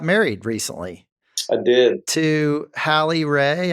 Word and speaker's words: Hallie Ray: To Hallie Ray. Am I saying that right? You are one of the very few people who say it right.